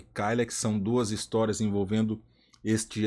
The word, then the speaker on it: Killex: físico de Dylan Dog kyx ou kex como alguns pronunciam é um material encapador e